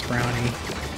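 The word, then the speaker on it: Browny: brani which given mention we should probably pronounce as brownie even though it's br-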